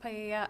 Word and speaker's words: paella: that was going to be used to cook paella. I'm not sure if that's how you pronounce it at the party. It's pronounced paella.